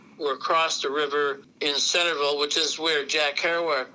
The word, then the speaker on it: Centralville: a girl in Centralville, they pronounce it Centerville, Centerville, but it's spelled Centralville, but it's said like it's Centerville, yeah.